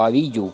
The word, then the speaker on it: Abiú: Abiú o Abiyu, como algunos también lo pronuncian.